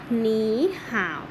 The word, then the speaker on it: 你好: คำ ที่ 1 สวัสดี สวัสดี ออก เสียง ว่า หมี ห่าว อย่า หนี ห่า ว อ่ะ เรา มา ดู